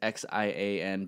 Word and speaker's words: Xian: So why is it pronounced Xian instead of like Zion? So that's the way that my family pronounced it, called me since I was a youngin', because the correct pronunciation in the American language of Xian is, right?